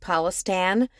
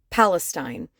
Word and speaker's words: Palestine: you know perfectly clear it's not pronounced Palestine it's Palestine and if you want to be Act correct it's philistin so yeah it shows